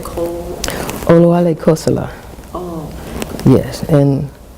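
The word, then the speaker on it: Oluale Kossola: And how did you pronounce the last enslaved African? You said Cole? Oluwale Kosala.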